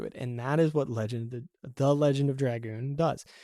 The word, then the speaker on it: The Legend of Dragoon: You're gonna hear me say the name wrong a lot. That is because as a kid I misread the title and it stuck, and I just realized that I was saying it wrong my entire life. While recording this. So it is supposed to be The Legend of Dragoon. I always say Legend of the Dragoon.